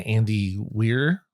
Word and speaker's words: Andy Weir: Um but the original book was by Andy Weir I believe is how you pronounce it.